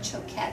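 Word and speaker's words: Choquette: courses like a video course her last name is spelled c c h q u t t e son choat and she's with Hay House so you can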